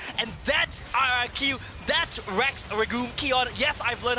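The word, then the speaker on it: Rex Regum Qeon: times as fun and that's our iq that's rex regul kion yes i've learned how to pronounce their name and they make it work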